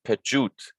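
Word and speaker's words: pḏwt: p gap pair the the cobra snake is pronounced j and this is t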